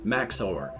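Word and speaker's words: Max0r: does reviews for videos Max over I guess that's how it's pronounced m-a-x-0 R now I'm older and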